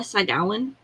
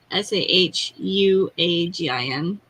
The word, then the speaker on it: Sahuagin: A Sagawan. I'm probably saying that completely wrong. It's Sahuagin.